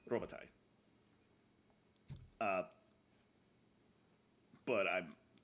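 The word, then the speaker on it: Robitaille: b i t a i l l e robotti uh but I'm robatel we we dropped a letter and changed the pronunciation so to something else entirely bought this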